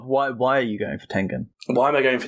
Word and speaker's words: Tengen: Guts from Berserk against Tenzin from Demon Slayer. I honestly forgot his name for a moment. Tengen. Tengen. Yeah, you said it wrong.